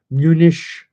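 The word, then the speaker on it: München: security conference I think MSC munish to pronounce it in the German fashion Munich Munich security conference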